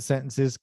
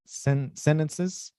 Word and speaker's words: sentences: think is completely ugly there are some people that cut the tea in sentences but i think that's just bad diction to me that just